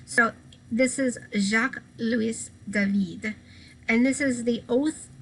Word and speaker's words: David: last name is spelled like david but it's pronounced david because the french sometimes are a little crazy in the way they pronounce things so this is jacques luis david and this is the oath of the horation